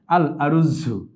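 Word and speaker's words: الأرز: এই ভাতের আরবি শব্দ হচ্ছে আল আরুজু। শব্দটি আল আরুজু কথ ভাষায় আমরা রুজ বলে থাকি। রুজু বলে থাকি বা আরুজ বলে থাকি। যেভাবেই বলি আমরা বিশুদ্ধ শব্দটি হচ্ছে আল আরুজু।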